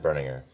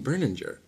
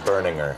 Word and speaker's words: Berninger: That's how you pronounce his last name. I'm Matt Berninger from The National. I've been saying Berninger. You have? That's wrong. It's Berninger.